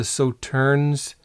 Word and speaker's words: Sauternes: And on the nose, I can't really detect the sauternes. Sauterne, I think you don't pronounce the last S.